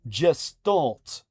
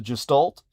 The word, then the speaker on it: Gestalt: throttled through mere words, but instead allowing for gestalt or depending on your dialect, gastalt communication. That's spelled g a l t.